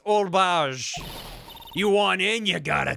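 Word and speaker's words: Oldbag: Her name is Old Bag. It's pronounced Old Bage.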